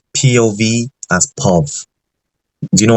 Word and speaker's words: POV: I used to think instead of POV you pronounced it as pu I realized that it's POV and I just felt really stupid for some